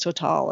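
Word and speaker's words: TotalEnergies: I like which is total energies or total energies but I think it's so tall is really how they pronounce it um tte is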